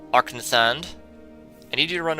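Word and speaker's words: Arkngthand: I think the G is silent. Arknethand.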